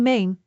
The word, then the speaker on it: meen: A is a long e sound like in main which means I mean let us break it down main.